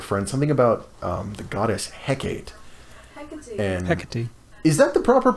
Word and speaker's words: Hecate: Hecate. Hecate. The E is its own syllable.